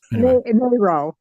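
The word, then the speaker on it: Mairo: your last name m a i r o marioo myo okay good Darlene what are you doing my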